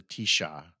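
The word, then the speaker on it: Taoiseach: like their prime minister isn't called the prime minister is called the Tisha Tisha Tisha is spelled um you know not like you you'd expect it to not like Tisha there's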